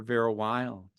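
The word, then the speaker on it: Vera Wylde: And for that, you can look for Vera Wild. Wild is spelled WYLDE.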